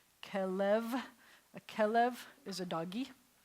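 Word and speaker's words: כלב: And remember, when we have two segals together, let me make this here, it's going to be, the accent's going to be on this syllable. Kelev.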